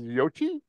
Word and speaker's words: Yoichi: versus Yoichi. Did I say it right? Okay. Yeah. Yoichi.